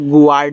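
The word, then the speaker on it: guard: जैसे जी यू ए आर डी इसको good नहीं पढ़ना है। देखो यहां मैंने लिख भी दिया भैया गुार्ड नहीं पढ़ते हैं। इसको गार्ड पढ़ते हैं।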